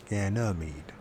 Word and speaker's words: Ganymede: Supernatural, give me a Ganymede. I think that's how you pronounce it. Was it Ganymede. Ganymede? So it's like a reed, mead. Ganymede. Ganymede.